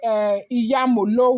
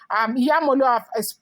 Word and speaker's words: Iyemolu: Now, you may not understand maybe my pronunciation. It is called Iyemolu water, okay? Iyemolu, I have also told you that history is